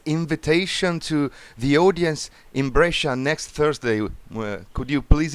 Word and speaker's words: Brescia: I don't know how you pronounce it there. Brescia. Brescia. Yes. Yeah, I got it right first time.